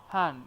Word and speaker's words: 汉: 汉语 Han is falling tone.